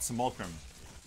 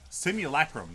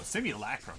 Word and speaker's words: simulacrum: the the S the it's not simulam simulacrum there we go simulacrum jeez it's hard to